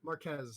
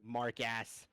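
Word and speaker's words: Marques: Marquez, that's his name. Right? No, I know. I was just No, ever yeah, since yeah. I heard that I it was mispronounced it. Mark Ass.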